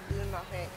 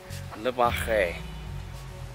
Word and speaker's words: Le Marais: Guys, so we are back in Paris and we are just exploring an area called Le Marais. Le Marais.